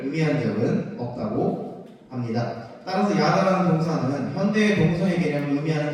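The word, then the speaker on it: ידע: 상관하다의 히브리어 원어는 야다라고 읽을 수 있습니다.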